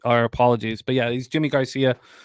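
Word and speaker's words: Yimi García: that's that's how it's pronounced that's how it's pronounced yeah not not yimmy no sorry wow my our apology our apologies but yeah he's Jimmy Garcia C Jimmy Garcia up here damn you guys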